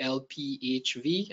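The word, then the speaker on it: ALPHV: and a v but according to the ransomware group itself it's actually Al PV and it's sort of Russian it's pronounce like if you say the word Alpha with a Russian accent for Alpha that made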